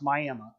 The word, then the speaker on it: Miami: Old Town spelled like Miami Florida but it's pronounced Miami the Seneca the one the one piece of